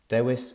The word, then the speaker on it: Dewis: can contact them at help dois dot wales dewis is spelt d-e-w-i-s that's help dewis dot wales and